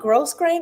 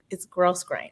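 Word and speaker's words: grosgrain: Well, I could be wrong too, but I think the S's are silent. So it's like grow grain.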